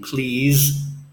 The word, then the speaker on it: please: nice be agreeable again notice in please the S has a voice weights like the letter